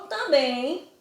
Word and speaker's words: também: que está acentuado logo também é uma paroxítona não também é uma oxítona porque a última sílaba é a mais forte na letra verdes isso